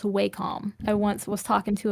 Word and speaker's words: Wacom: It is, fun fact, pronounced Wacom.